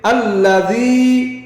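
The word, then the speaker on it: الذي: উচ্চারণ কি হবে? আল্লাযী।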